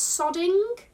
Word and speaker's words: sodding: never heard of it okay so it's sodding i just pronounce it in a very northern way it's northern england slang